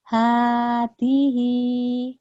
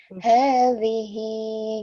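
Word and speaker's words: هذه: Hadihi. Kayaknya rapuhin. Hadhihi gitu.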